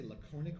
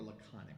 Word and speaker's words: laconic: I would say laconic or laconic, a little shorter on the O.